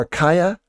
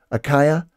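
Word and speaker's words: Achaia: maybe is it better akaya i i think some people say aka but i think it's a kaya as is a better uh pronunciation the ai should be an i uh kaya um but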